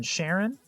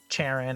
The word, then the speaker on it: Charon: And they do specifically go with the pronunciation Sharon, because there was a significant hero in their life by the name of Diamond Glance. Her actual name was Sharon, so they go with this pronunciation instead of Charon or Karen or any other pronunciation you've heard of the ferryman over the Styx.